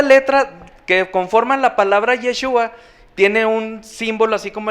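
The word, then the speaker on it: ישוע: Dice que la menorá tenía siete brazos, sí, y el nombre del Eterno en hebreo, el nombre de Jesús en hebreo se pronuncia Yeshua. Jesús en hebreo es Yeshua, sí.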